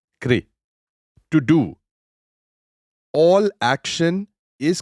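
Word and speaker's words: kṛ: The word karma is derived from the Sanskrit kri, roughly pronounced like kri, to do.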